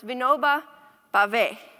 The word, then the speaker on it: Vinoba Bhave: I asked Vandana how to pronounce it. It's Vinoba Bhave.